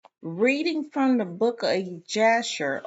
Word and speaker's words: Jasher: reading from the book of Jasher or Yasher, if you pronounce the J with a G sound versus with a um with a J sound instead of like a Y.